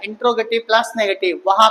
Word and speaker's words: interrogative: चलो, आज का टॉपिक आपका होने वाला है इंट्रोगेटिव। एक चीज ध्यान रखिएगा, मैंने हर टॉपिक को पढ़ाते समय जब भी पढ़ाया टॉपिक, इसका प्रोनाउंसिएशन इंटेरोगेटिव कहीं नहीं है। ये इंटेरोगेटिव नहीं होता, ये इंट्रोगेटिव है।